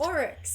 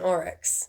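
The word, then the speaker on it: aurochs: that's pronounced? Oryx, yeah.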